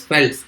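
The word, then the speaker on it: veld: इसको लिखते वेल्ड्स हैं but pronounce as फेल्ड्स in south Africa.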